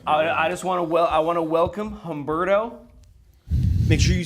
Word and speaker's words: Homberto: on, You don't have what's to your- pronounce the H. Yeah. You don't have to say hum.